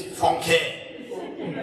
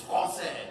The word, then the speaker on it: français: If you don't put it there, it's not français, it's franquais. That's wrong. It's français. It's a different pronunciation.